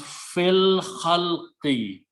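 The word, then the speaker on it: في الخلق: When you pronounce, you do not pronounce alif, it becomes hamzatul wasl. So it becomes fil khalqi, in the creation.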